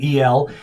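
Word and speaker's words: אֵל: It's spelled E-L in English, properly pronounced Ale in Hebrew, but it's easy just to go with El.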